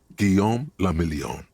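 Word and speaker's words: Guillaume Le Million: meant only one thing Guillaume La million if it doesn't rhyme you're not pronouncing it right hmm out of the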